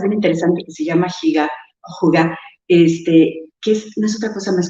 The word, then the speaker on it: hygge: Y ellos durante muchos años hacen una práctica que se escribe H-Y-G-G-A, se pronuncia Hygge.